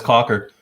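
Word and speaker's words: Cawker: that's what i see okay how do you pronounce that is that cocker yeah it's cocker cocker city kansas i actually knew that one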